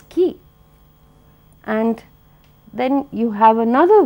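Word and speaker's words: quay: Then you have Q-U-A-Y. M-A-Y would be May, but Q-U-A-Y is key.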